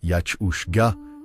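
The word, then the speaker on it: each-uisge: Des traditions orales transmises dans les Highlands racontent qu'un esprit aquatique nommé Ich-Uiske, prononcé Yach-Ushga, littéralement cheval d'eau, hantait les lochs et les rivières.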